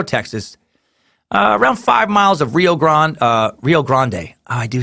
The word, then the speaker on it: Rio Grande: at a Laredo Texas around five miles of Rio Grande Rio Grande I do say thanks for putting